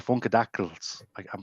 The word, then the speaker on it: Funkadactyl: Long way from the Funkadactyls. Did I pronounce that right? Funkadactyl? Yeah.